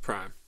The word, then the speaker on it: PRhyme: They want it pronounced Prime.